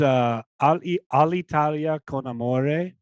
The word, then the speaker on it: All'Italia con amore: Oh yeah, I didn't even tell you how to pronounce the project. It's All'Italia con amore, which translates to Italy with love.